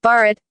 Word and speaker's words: Bharat: the people of the indis the geographical term Barett Barett pronounced beet which is recognized by the Constitution